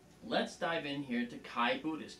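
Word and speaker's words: Xi: Now, let's dive in here to Chi Buddhist. Chi is spelled X-I, okay, and it's a double star system.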